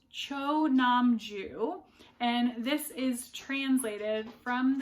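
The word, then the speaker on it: Cho Nam-joo: And I have pronounced this author's name wrong so many times because I keep wanting to make the first syllable and the last syllable the same, even though I know they're not. So it's Cho Namju.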